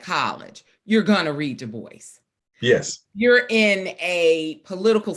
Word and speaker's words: Du Bois: of the title the love songs of w.e.b du bois and i'm so glad you pronounced it right well you went to morehouse